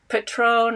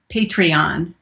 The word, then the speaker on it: Patreon: talk about the hottie is it you said patron or how do you say that it's patreon patron that's a website where